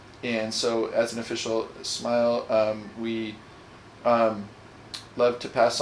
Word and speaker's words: smial: to work out we I always for years thought it was a smeal yeah me too but uh but apparently is a smile which just means a